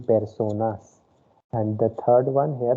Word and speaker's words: personas: Second one, it is persona. Okay, because the letter E is pronounced as A sound of English. Okay, so it will be personas.